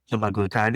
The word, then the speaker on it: semaglutide: You need the other, what is it, semaglutide? Is that how you say it? semaglutide, yes.